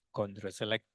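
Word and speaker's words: ChondroCelect: Ini bacanya Condro, kalau Condro itu mungkin ayam goreng, ya. Ayam goreng Bu Condro itu ya. Tapi ini Condro Select.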